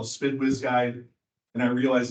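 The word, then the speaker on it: SDPWS: Similarly, uh, AWC, we have our our SPID, what we call the Spid Wiz Guide, and I realize it's SDP, but we pronounce it SPD.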